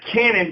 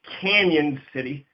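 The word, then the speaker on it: Cañon City: 25 miles southwest of Canon City. It's C-A-N with a tilde over the N-O-N. So it looks like Cannon, but it's pronounced Canon City.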